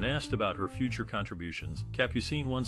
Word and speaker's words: Capucine: Capucine, the actress born as German Lefebvre, took her stage name from the French word for the nasturtium flower, pronounced Capucine.